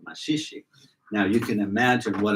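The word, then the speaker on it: Maxixe: And the music box played was playing a machixe. She didn't pronounce it like that. She said machich.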